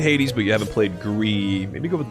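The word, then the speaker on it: GRIS: but you haven't played Gree, maybe go with Gree. It's pronounced Greece. Isn't it pronounced Gree? Like the... Is that not how you pronounce gray in French? Grease. Okay, fine, it's Greece.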